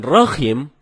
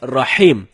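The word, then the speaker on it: رحيم: artinya yang maha penyayang sedangkan Rohim artinya Maha merdu bacaan yang benarnya Insyaallah dengan huruf ha ha dalam tenggorokan jadinya rahim bukan roh Hai kalau teman-teman bacanya rokim itu dapat merubah makna atau arti dari ayat suci Alquran telah kedua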